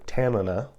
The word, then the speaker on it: Tanana: Tanana, or Tanana, as it's pronounced actually in Alaska, is a place in